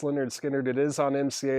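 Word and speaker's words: Lynyrd Skynyrd: did I just go past it Leonard skinnard pronounced Leonard skinnard it is on MCA it's not songs of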